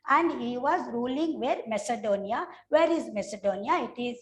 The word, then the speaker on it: Macedonia: Don't mention it as, don't pronounce it as Macedonia. It is not Macedonia. It is Macedonia.